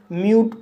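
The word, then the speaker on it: mute: एम को मा पढ़ा जाएगा, यू को यू पढ़ा जाएगा, टी को टा पढ़ा जाएगा और ई साइलेंट रहेगा। इस तरह से म्यूट पढ़ा जाएगा और म्यूट मीन्स शांत।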